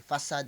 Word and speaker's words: facade: ung facade fa a c a d e faad ang tawag doun facade ang tawag nila fa pero ang tamang pronunciation faad ibig sabihin ng faad yung parang